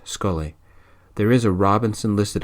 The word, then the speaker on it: Scolaidhe: Her captain is named Rowan, Scolaidhe. I think it's pronounced Scully.